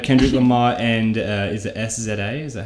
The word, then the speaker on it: SZA: Then I have Kendrick Lamar and is it SZA? Is that how it's pronounced?